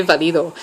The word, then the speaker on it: Valido: He's all like, the Spanish in me wants to say Valido. I'm just like, I mean, you can. That's kind of how you're supposed to say it.